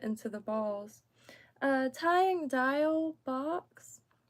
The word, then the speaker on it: Diawl Bach: I appreciate that so dial Bo so just like pronounced like dial okay dial um sometimes if I